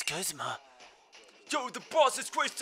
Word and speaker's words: Guzma: Some people pronounce it Guzma and some Guzma. Guzma. So it's gotta be Guzma. Because in Japanese, they don't have the G. So... And it doesn't really give me, like, an actual pronunciation of his name. So I go after the Japanese one, which is Guzma.